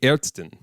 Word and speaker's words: Ärztin: It's confusing because for a male doctor in German, you would say arzt, but for a female doctor, you would say Ärztin.